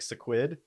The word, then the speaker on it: Sequid: It's something like the word squid. It's like a syllable off. Like sequid. It is sequid.